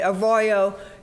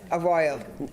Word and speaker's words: Arroyo: think yeah but but yes a Royo and and I have asked Spanish speakers to uh repeat it to me and the RS are rolled and I can't do that it's a Spanish word I was just wondering